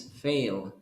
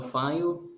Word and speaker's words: fail: Just remember the pronunciation is fail. Fail, no file, fail.